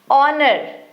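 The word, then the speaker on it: honour: इसमें भी H silent है। ऑनर।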